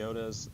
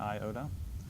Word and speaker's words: Iota: pronounce it Pi because the Iota's iota not I-oda so it's a short